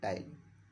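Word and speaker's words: ptyalin: ये पी जो लिखा होता है वो साइलेंट होता है, ठीक है ना। पी साइलेंट होता है, तो पी को छोड़कर हम तब नाम पढ़ते हैं।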